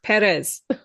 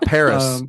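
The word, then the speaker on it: Pérez: a Spanish accent yeah the exit is on the first e so it's Perez I can't not Paris some people have been calling it Amelia Paris and I want to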